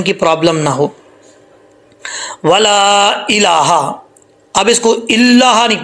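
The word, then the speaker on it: إله: اس کو اللہ پڑھتے، لام کے اوپر شد نہیں ہے، حمزہ زیر ای، لام کھڑا زبر، لام کھڑا زبر پڑھنے یا سٹینڈ زبر، لام کھڑا زبر لا، لام سٹینڈ زبر لا، الہ، الہ بن ہا کو لمبا نہیں کرنا، الہ غیرک۔ اگر آپ کسی بچے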